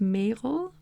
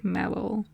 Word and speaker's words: Merel: My name can be kind of be like pronounced English, because you pronounce it Merel, but you could pronounce it like Meryl. I can't pronounce it because I can't pronounce the English R, but like Meryl Streep.